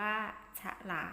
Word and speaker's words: ฉลาม: แต่ ฉลาม แต่ ฉลาม มี ช้อน นำ สะกด ว่า ฉลาม อ่าน ว่า ฉลาม โอ๊ย ทะ หล่อ มี